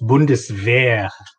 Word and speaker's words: Bundeswehr: asking how do you spell how do you pronounce that is it bundesvar bundesware it's bundeswehr like weapon bundes is like the name of